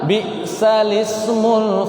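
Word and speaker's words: بِئْسَ الِاسْمُ: Bi'salismul fusuqu ba'dal iman. Itu ada di surah Al-Hujurat. Jadi bukan bacanya bi'sal ismu, tapi gimana? Bi'salismul fusuqu ba'dal iman. Seperti itu.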